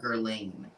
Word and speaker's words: Guerlain: I always pronounced and nobody corrected me. I always called it Shalimar Guerlain, but it was Guerlain.